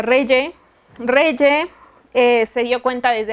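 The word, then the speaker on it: Regge: Ok, entonces, me dijeron ayer que se pronuncia Reye.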